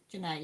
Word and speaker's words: Janae: So is it Janae? Have I said that right? I have to ask because I've got another friend who's called Jenna and it's spelt like that. So Janae, yeah. I knew I'd said it wrong as soon as I said it.